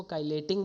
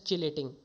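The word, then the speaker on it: chelating: कई लोग इसको काइलेटिंग बोलते हैं, कई लोग इसको चिलेटिंग बोलते हैं, ठीक है, बट एक्चुअल जो प्रोनाउंसिएशन है दैट इज़ चिलेटिंग, ठीक है।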